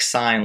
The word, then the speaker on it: sine: The sine ratio, pronounced like sine, like, hey, there's a stop sign.